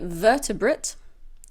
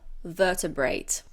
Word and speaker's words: vertebrate: also a countable noun you can say vertebrate or vertebrate both pronunciations are correct vertebrate vertebrate a vertebrate